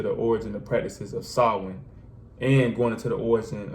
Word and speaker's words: Samhain: When you look at it, it looked like it's spelled a different way or it's said a different way, but it's really pronounced Samhain.